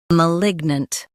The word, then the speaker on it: malignant: Stress lig and keep nunt light. M. Lig. Nunt. Malignant.